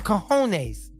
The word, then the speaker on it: cojones: Some cojones.